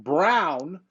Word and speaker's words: Braun: was a new guy Christian Brown even though it's spelled Braun uh that guy coming